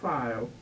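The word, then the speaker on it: Fiel: Andrew File. Spelled F-I-E-L. They didn't spell it right, but that's the way he had to go by.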